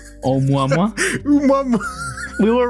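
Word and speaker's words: ʻOumuamua: Omwamwa. Umwamwa. We were right. You say it how you read it. Omwamwa.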